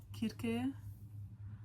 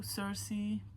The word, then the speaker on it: Circe: So Circe from Madeline Middle, I need to say Kirke because that's the name. Every time I say it wrong, my sister's like, it's Kirke.